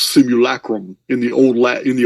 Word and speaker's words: simulacrum: that we live in this similar Chrome it's pronounced simulacrum in the old Latin the old Latin books